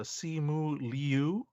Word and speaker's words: Simu Liu: Also of note, he tweeted that the pronunciations May 2nd, that it's a Simu Liu and Shang-Chi.